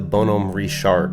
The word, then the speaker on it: Bonhomme Richard: himself in command of the bonum rashard which he immediately made his crew drop the French pronunciation to give a shout-out